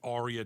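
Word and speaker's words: Aria: Joe at Arya Dental Implant Center. It's spelled A R I A.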